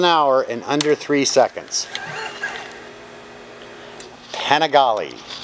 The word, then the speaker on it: Panigale: in under three seconds panigale had to have a co-worker josh correct my pronunciation of that i wanted to call it pentagon 16 528 in inches